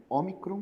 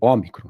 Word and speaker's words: ômicron: O ômicron é uma vogal breve. Então, geralmente ela vai ser pronunciada de forma aberta, parecida com sol, por exemplo, sabe? Alguma coisa assim, como se tivesse um leve acento agudo na letra.